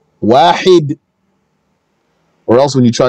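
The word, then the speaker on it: واحد: You have to say the ha, wahid.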